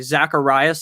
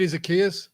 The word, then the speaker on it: Zaccheaus: It's like Zacharias. He's the wide receiver 3 in Atlanta. Oh, Olamide Zaccheaus? Yes, very bad at pronouncing that name.